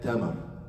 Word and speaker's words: tamar: And after that, tamar. Ta, mim, ra. Tamar. Which is T-A-M-A-R. Tamar.